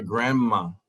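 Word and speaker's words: grandma: ahora para para hablar para pronunciar esta palabra vea que hay una de allí y de verdad nos lo pronunciamos y sin pronunciar la d es como si la de no existiera pueden ser grama correctos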